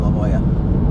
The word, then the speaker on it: La Jolla: So I don't quite know, but they're pronounced the same, La Jolla.